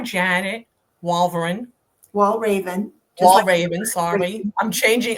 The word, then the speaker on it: Walraven: So everyone it is Janet R Janet Walraven Wall Raven Wall Raven Sorry I'm changing I'm changing your name And you said it's pronounced I also want to hear the pronunciation